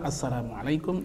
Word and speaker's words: assalamualaikum: Tapi yang benar adalah assalamualaikum, itu yang lebih pas begitu.